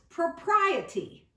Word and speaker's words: propriety: It's propriety. Propriety. 4 parts or 4 syllables.